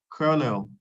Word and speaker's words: colonel: Chrono Cur no what CR l o n e l kernel yes Colonel not colonel okay so it's not